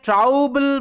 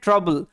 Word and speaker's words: trouble: অর্থ হচ্ছে ঝামেলা সমস্যা এখানে ও ইউর উচ্চারণটা আবার আ হচ্ছে আও না হয়ে সাধারণত আমাদের ও ইউর